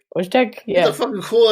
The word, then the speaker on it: Wojtek: No, it's like Woj. I'll just type it in the chat. No, I'm kidding. Here. Oh. Wojtek? Yeah, Wojtek. Wojtek, yeah.